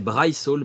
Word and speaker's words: Bryce Hall: C'est pas Brice Hall, c'est Bryce Hall.